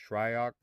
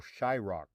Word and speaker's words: Shryock: Although his last name is correctly pronounced Shryock, just like it's spelled, he was often referred to as Güero Shyrock, Güero Shai, and many of us simply called him Shai.